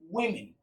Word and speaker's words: women: You would notice in woman and in women, they are different. When it is in the singular form, it is woman. When it is in the plural form, it is pronounced as women.